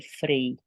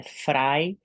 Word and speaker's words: Fry: Se não me engano eu falei Frei é frai e se escreve f r y vai lá assista você